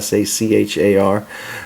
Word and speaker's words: Sachar: as by Louis Sachar I think is the way you pronounce his name si si har and you make holes